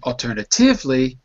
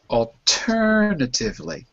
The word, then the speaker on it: alternatively: I think he was saying alternatively like in Spanish putting it on the penultimate but it's alternatively.